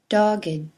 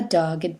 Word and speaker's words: dogged: The following ed words used as adjectives are pronounced with id: aged, dogged, ragged, blessed, learned, wicked, crooked, naked, wretched.